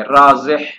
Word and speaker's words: رازح: ابن فارس رازح اعیا، ایک تو اس کی پروننسیشن اور تلفظ بیان کر دیا کہ شروع میں را ہے، پھر اس کے بعد الف کے بعد زا ہے اور آخر میں ہا ہے، خا نہیں ہے، رازح۔ یہ وہ گھوڑا ہوتا